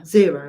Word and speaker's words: Xero: I looked at, is it Xero? Yeah, Xero. I was trying to think how to pronounce that.